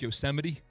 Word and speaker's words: Yosemite: You guys know it's pronounced Yosemite?